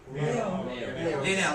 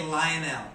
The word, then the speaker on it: Lionel: How do you say in Spanish? Lionel. So in English we say Lionel.